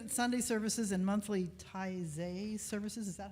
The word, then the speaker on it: Taizé: The fellowship sings it at Sunday services and monthly Taizé services. Is that how you pronounce that?